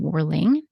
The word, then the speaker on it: Worling: His last name again, Worling, is spelled W-O-R-L-I-N-G.